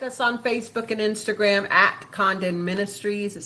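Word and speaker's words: Congdon: on Facebook and Instagram Condon Ministries c o n g d o n uh the g is silent so good luck pronouncing it if you don't silence it um we definitely we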